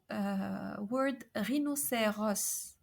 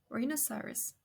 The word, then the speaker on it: rhinocéros: The sixth case, is in words with os, like in the word rhinocéros. Rhinocéros. So it's an open O. Rhinocéros. Rhinoceros.